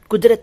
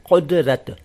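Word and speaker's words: क़ुदरत: यहाँ ये बता दूं सबसे पहले कि आप खुदा शब्द का उच्चारण खुदा न करें। यह है खुदा, खुदा। और ऐसे ही कुदरत, कुदरत नहीं, कुदरत, कुदरत, खुदा, कुदरत। इन दो शब्दों की प्रैक्टिस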